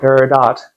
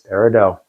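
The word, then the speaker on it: peridot: of wisdom remember parido the te is silent it's not paradot it's parido so thanks for watching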